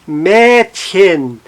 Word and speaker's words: Mädchen: O hen, Mädchen, Mädchen, não está no hen, sim no Mädchen.